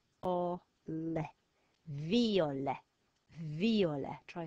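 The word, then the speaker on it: violet: an e e and the silent letter is a T and that spells the word for purple and we say it out V or viola viola try saying that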